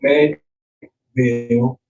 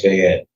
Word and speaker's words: Fayette: with one fatality in Fayetteville County a couple of months ago and another fatality in Bucks County. So people... That says Fayette. Fayette? Yeah, Fayette. It's French. It's French when you pronounce it.